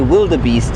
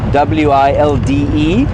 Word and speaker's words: wildebeest: The reason I say wildebeest every so often is because that's often how people who don't speak Afrikaans would say it, because it's spelled WILDEBEEST. And so if you were just reading it as an English-speaking person and you didn't know anything about Afrikaans, you might say wildebeest.